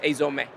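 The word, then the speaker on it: 藍染め: is actually called Azome, or in Japanese it's pronounced Azome, which would be hard for others to pronounce.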